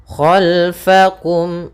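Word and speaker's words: خَلْفَكُمْ: Khalfakum, khalfakum, hati-hati dalam pelafalan fa, jangan dibaca khalfakum dengan p gitu ya, tapi di sini dengan fa, f.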